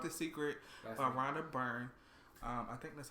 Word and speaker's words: Rhonda Byrne: It's called The Secret by Rhonda Byrne. I think that's how you say her name. Or their name. Rhonda Byrne?